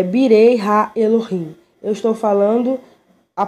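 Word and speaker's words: בני האלוהים: O hebraico é Birei Ha Elohim. Eu estou falando a pronúncia, tá? Se escreve Benei Ha Elohim, mas se pronuncia Birei Ha Elohim.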